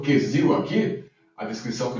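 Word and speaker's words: כסיל: A primeira, a pronúncia é totalmente aportuguesada, perfeito? Quesil, que significa insolente e tolo, e evil, que significa insensato e, obviamente, tolo também.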